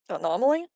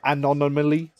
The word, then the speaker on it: anomaly: Yeah, I have an issue with that word specifically where I keep trying to pronounce it as anonymally. Anonymally. And I Yeah, I end up stuttering over anomaly and I end up going and no no anomaly.